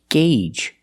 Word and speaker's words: gauge: It's pronounced gauge. That's right, the AU makes a long A sound. Gauge. The long A, like in day, and say, and pay.